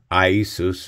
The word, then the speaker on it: Iesus: Iesus is the pronunciation for Jesus.